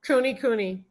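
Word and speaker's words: Kunekune: Cooney Cooney.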